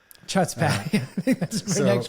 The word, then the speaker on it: chutzpah: You like the guttural CH there? It's Yiddish, isn't it? I don't know. Maybe. I could be wrong. Chutzpah. Chutzpah.